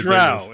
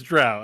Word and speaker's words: drow: Drow. I'm pretty sure it's drow. I reversed myself. It's drow, not dro.